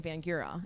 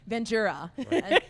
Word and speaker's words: Vangura: You know, we kept saying Vangura, and you guys were like very nicely going Vangura, and they're like nudging each other, like maybe they'll say it right the next time.